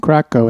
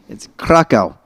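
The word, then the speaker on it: Kraków: Yeah, and it's Krakow. right? Krakow, yes. I thought you were saying crack house. Whoa. Dial back the moxie, sass mouth. Not so much. That's the Texas pronunciation, I mean- Krakow.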